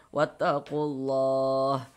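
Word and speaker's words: وَاتَّقُوا اللَّهَ: Karena cara bacanya dari ku langsung masuk ke huruf lam yang ada tanda bacanya ini. Begitu. Wattaqulah.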